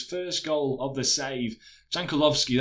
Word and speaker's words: Jankulovski: Jankulovski, that's how you pronounce it, tries to find Cafu at the back post, who tackles his man, and it falls to Inzaghi very kindly there.